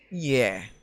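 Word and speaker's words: 예: তো আমরা এখন যে অক্ষরটা দেখতে পাচ্ছি সেটা হচ্ছে ইয়ে। এটার উচ্চারণ হবে ইয়ে।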